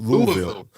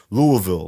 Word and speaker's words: Louisville: in front of Jack how do you say it again L Louisville Louisville like that yeah not Louisville you got to drop your voice that's how they say it down there in Kentucky man yo we went all the